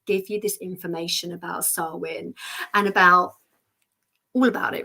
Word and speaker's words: Samhain: about sarwin and and it doesn't look like sarwin and as a dyslexic I can tell you I usually pronounce it samay or something like that because it looks like samane but it's sarwin sarwin so there you go